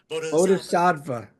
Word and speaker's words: Bodhisattva: I'm famous for getting lyrics wrong, but this word is hard to pronounce. I'm gonna try to get it right here. Bodhis bodhisafa. There you go. Bodhisattva.